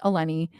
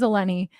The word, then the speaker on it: Elenee: real like birth name by birth is elenni um but just for fun I thought I'd be like well I mean it could be Helen if if you need to call me Helen for pronunciation purposes you do that too but my real name is alenny um It's Greek and it's beautiful and